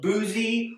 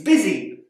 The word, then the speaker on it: busy: makes it in sound it's not boozy or buzzy it's busy word here the o